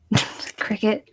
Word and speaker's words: Cricut: Cricut.